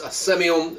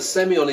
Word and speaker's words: Semillon: Our wine today is Casa Silva Late Harvest Semillon Gewurztraminer. Interesting, they put the accent on the O in Semillon rather than the E in Semillon.